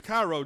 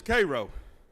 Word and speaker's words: Cairo: single him out jackie robinson was born in cairo georgia some people mispronounced it as cairo georgia but here in georgia is cairo he was the son of millie and jerry